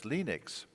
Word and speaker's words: Linux: lenus tals and I pronounce lenux as lenux and he actually created an audio file that's shipped with the original sources for the colonel that said hello my name is lenus tool that I pronounce lenix as lenux so he and his